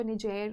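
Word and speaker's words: Niger: Basically एक French colony थी, तो कई लोग इसको निजेर प्रोनाउंस करते हैं, कई नाइजर भी प्रोनाउंस करते हैं, डिपेंडिंग अपॉन यू आप कैसे भी प्रोनाउंस कर सकते हैं।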